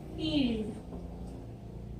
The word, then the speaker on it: field: यहाँ पे L की सॉफ्ट साउंड है, आधा ल है, पूरा ल नहीं है, और इसीलिए ये है फील्ड, ये आधा ल ड, फील्ड।